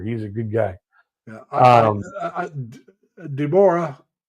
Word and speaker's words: Deborah: Deborah, we would say Deborah, but Deborah is the way she pronounces it.